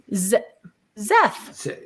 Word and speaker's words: Seth: Zeth. Zeth. There you go. Say the Z.